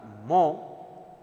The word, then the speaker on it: mho: Therefore, conductance has got different units, ohm to the power minus 1, ohm to the power minus 1 written as upside down, its pronunciation is mho, or actual unit is Siemens, capital S.